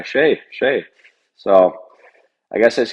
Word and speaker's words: Skjei: So it's Norwegian name. And I went there, and I mean, every single person knew exactly how to say it. It was the first time in my life where everyone's like, oh yeah, Skjei.